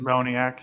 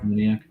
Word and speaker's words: Moniak: Moniak, yeah. Moniak.